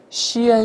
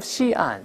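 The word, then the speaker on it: Xi'an: 分隔开，不要读成险，要读成西岸，把它分开就好了。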